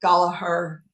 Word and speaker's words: Gallagher: Uh Gallagher as I say it. Galahar as they say it.